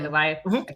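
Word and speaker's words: Alioth: So after she murders Johnny, she leaves Deadpool and Wolverine for a sacrifice to Eliath. Am I saying it right? Eliath?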